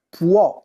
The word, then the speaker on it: può: tu puoi lui lei può con la o aperta può e c'è anche l'accento grafico noi possiamo dopp S